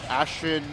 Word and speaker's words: Ashtin: I I wonder maybe maybe it was like maybe maybe Durkquake realized that Ashen, it's pronounced Ashen, like has more like info on the ditto